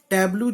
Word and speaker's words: tableau: की स्पेलिंग होती है, उसके बाद ए और यू और लग जाता है, जैसे ऑव, ए और यू की जो साउंड होती है वो होती है ऑव, टैब्लो, ठीक है।